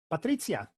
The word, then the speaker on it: Patrizia: We are going to move on to Patrizia, and that's how you pronounce it, whether you're in Italy or not.